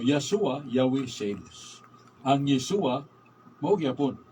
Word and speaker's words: Yahweh: Ang W, katapusan, H gapon, mabasa nila Yahweh. Ang YHWH. YHWH.